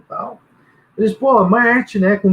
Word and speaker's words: MMarte: Não, a gente chama de Marte. É Marte. Vale tudo, é Marte. Só que com 2 M's.